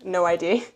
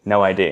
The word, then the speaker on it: No ID: No ID? No ID. Why can't I? I don't know. You love the phonetic I want to say pronunciation. everything phonetically. It's called No ID, but she calls it Noid.